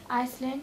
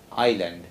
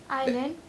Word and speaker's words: island: Invent, inverse, Iceland, justice. Island. Island. Justice, lantern, market. That S is silent. Okay? Island.